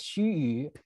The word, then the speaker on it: Xu Yu: So Xu Xu is sometimes also referred to as Xu Yu. That was actually the pronunciation of his name that he himself preferred.